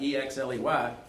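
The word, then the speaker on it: Oechsli: And for all you Savannians who, there's Exley family here in Savannah, E-X-L-E-Y, I got two bad news. Two things of bad news. Number one, Exley is spelled O-E-C-H-S-L-I. That's the German spelling.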